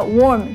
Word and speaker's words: warm: 我很容易受伤啦，所以运动前都要好好的暖身。那现在在我去运动之前，就先来教教大家 warm 这个字的用法吧。Warm, W-A-R-M 这个字的发音要注意，是有一点圆圆的 warm，不要擅自把那个音换成 worm，那样就会变成虫虫的意思了，切记切记。那 warm 的词性呢，通常有2种，一种是动词，一种是形容词。我刚刚用的 warm